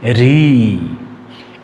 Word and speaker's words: ঋ: এক এরপরে আছে ঋ এটাকে অনেকে আপনারা লিও বলেন কিন্তু আসলে লি হবে না উচ্চারণ হবে ঋ এরপরের বর্ণটি আছে এ